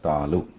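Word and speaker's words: तालु: So when we say talu, that also has ta plus a plus lakara plus u, right? So there is a takara, there is a akara, then lakara and ukara. So together we pronounce it as talu, and so on.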